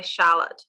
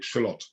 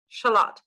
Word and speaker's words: shallot: the slot onion uh you pronounce it exactly the same but it's spelt differently so the shallot onion